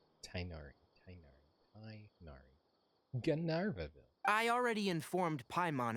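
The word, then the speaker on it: Tighnari: That was how I figured out how to stop saying Tignari. Because I legitimately mispronounced that name a lot. Tainari.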